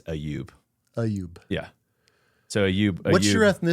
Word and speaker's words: Ayoub: I'm saying So the English pronunciation is Ayyub. The Arabic pronunciation is Ayoub.